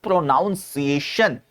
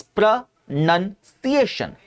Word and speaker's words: pronunciation: इट्स नॉट प्रोनाउंसिएशन। इट्स प्रंसिएशन। प्र none C ए शन simple स सबसे पहले जो आएगा वो हमारा दंत स होगा और फिर बाद में जो आएगा वो हमारा तालव्य श होगा तो प्र नन सी